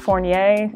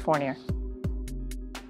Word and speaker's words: Fournier: picked it um and my last name for year is just French supposed to be pronounced fornier and they Americanized it to forer I still lift or